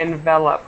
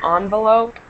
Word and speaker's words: envelop: So the same thing here, we have to envelop us. It's coming from the same word, just using it as a verb. Okay, and note the difference in pronunciation between the noun envelope and the verb envelop.